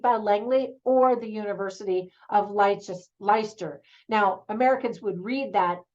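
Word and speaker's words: Leicester: was it Felipe Langley or the University of leister now Americans would read that my sister but it's pronounced leister like Worcestershire sauce that's how we Americans pronounce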